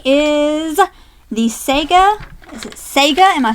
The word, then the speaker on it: Sega: Is it Sega? Am I saying it right? Yeah. Sega!